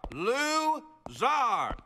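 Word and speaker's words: Lou Zarr: you two stop talking my name is it is pronounced czar lou zar this is tricky little calcometry 101.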